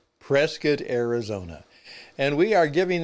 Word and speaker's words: Prescott: rodeo is going in the future here in Prescat, Arizona, USA.